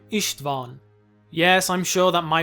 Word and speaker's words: István: Well, Isstvan is a poorly pronounced version of the Hungarian name István.